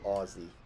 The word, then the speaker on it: Aussie: ] do Aussies also I forget if it's Aussie or Aussie can you tell okay Emerald can you tell me if it's with the z sound or S sound like do Australians also pronounce h h or is that exclusive to the rich h okay Aussie okay so I need to say Aussie okay Aussie Aussie I'm